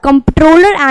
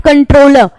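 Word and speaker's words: Comptroller: shell appointed by डी कॉम्प्ट्रॉलर and auditor general कंट्रोलर इसको नहीं pronounce करेंगे दिस इसे नॉट कंट्रोलर दिस इस कम पैट्रोल ठीक है सी एंड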